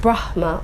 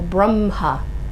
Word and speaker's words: Brahma: There's no mistake that the only word in Sanskrit that you have a choice of how to pronounce is the word Brahma, that can either be pronounced Brahma or Brahma.